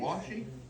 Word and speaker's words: washi: It Washi tape doesn't isn't. really stick in it. Are you saying washi? Washi Washi. tape is meant Washi. for How do you decorative. spell it?